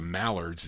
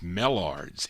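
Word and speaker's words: Mellards: I think it's pronounced mards m e l l a the it's not the malards it's mards m e l l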